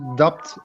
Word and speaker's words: doubt: Can you pronounce the doubt again, please? Doubt. Doubt. So Doubt. there's no B, no, No. B. No. Okay. Yeah. Okay. The B is tricky. Doubt. Okay. Yeah. Silent B.